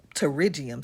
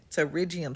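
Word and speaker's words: pterygium: I use what we call a terigium stone. It starts with a P, but that P is silent. Terriium stone.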